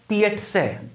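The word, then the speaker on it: piazza: जो है पिएट्स है, ध्यान रखना प्रोनाउंसिएशन क्या होगा, पिएट्स है, पिएट्सेस, ठीक है ना। तो एक वर्ड होता है PIZZA, ध्यान रखना, उसका प्रोनाउंसिएशन होता है पीट्स है, उसका प्रोनाउंसिएशन होता है पिएट्स है, ठीक है ना, PI जिसको हम पिज्जा बोलते हैं, तो गलत प्रोनाउंसिएशन एग्जाम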